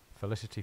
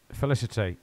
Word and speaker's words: Felicity: be useful is he Felicity felicity your name rhymes with electricity so let's just say